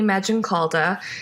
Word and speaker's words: Maggioncalda: So, my name is Magenalda. It's a long Italian one. Kind of sounds like magic cauldron. That tends to help people with the pronunciation.